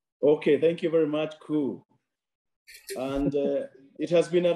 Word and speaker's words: Kuhl: how do you pronounce his name is cool like the English word C double o l cool oh this is my